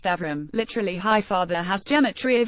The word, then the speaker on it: Abram: names the original first named Abram pronounced Avram literally hi father has